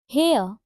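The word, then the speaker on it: Herr: हेयर, अब देखो यहाँ पे है HEER, हेयर, तो इसका प्रोनाउंसिएशन होता है हेयर की तरह।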